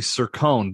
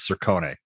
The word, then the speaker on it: Cercone: Cercone, is this the right pronunciation? It's actually Cercone, but I'm sure back in the old country it was Cercone.